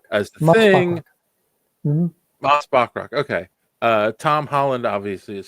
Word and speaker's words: Bachrach: Eben Moss Barchak. I don't know how to say his last name. Bachrach as the Moss Thing. Mm-hmm. Moss Bachrach.